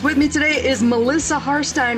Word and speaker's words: Harstine: With me today is Melissa Harstine, rhymes with pine.